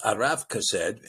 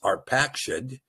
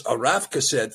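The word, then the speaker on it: Arpachshad: Now, verse 24 here says, Arath Kased, and you might remember his pronunciation is Arpakshad, But that, again, is a Masorite construct that destroys the ability to see the fatherhood of the line.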